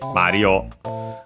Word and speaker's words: マリオ: So actually, that should be the case technically also for Mario, but yeah, in Japanese it isn't. It becomes simply Mario, while Luigi it's kept.